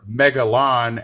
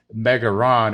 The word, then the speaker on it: Megalon: plus uh standard edition megaron or megalon as in japanese it's known as megaron and many of us